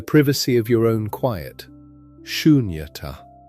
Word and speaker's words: Sunyata: Sunyata. 3 syllables, soft and open, ending on a breath rather than a stop.